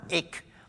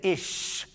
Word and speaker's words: ich: and said she said no it's not ich it's it's it's he couldn't do it then he'd say ish which is spelled isch i guess and she wouldn't